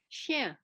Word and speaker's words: chien: Chien. C-H-I-E-N, le chien. Chien. Okay. I can't, when I, You don't put the N on the end. There are a lot of chien, chien.